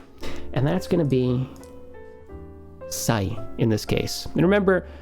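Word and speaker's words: 歳: And how do we pronounce this? Kanji? How do we read this? Sai.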